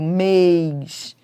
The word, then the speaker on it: mês: Mês tem timbre fechado. Mês. Fé tem timbre aberto, mas ambas são tônicas porque são fortes.